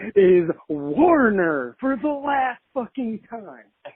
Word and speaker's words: Warner: He kept mispronouncing his name. He kept saying, "Man, I was in the show, Warren. Hey, Warren."